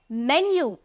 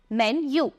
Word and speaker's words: मेन्यू: मांगते हो वो है मेन्यू। तो सबसे पहले प्रोनाउंसिएशन पे ध्यान देना, मेनू नहीं होता, इट्स मेन्यू। मेन्यू।